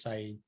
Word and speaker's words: Syed: imprisoned this was the person that am I pronouncing his name correctly is it Syed Syed I believe it's Saeed um yeah and and he was in prison